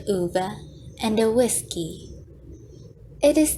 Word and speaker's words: Ove: For those who still don't know, his name is pronounced as Uva instead of Ove.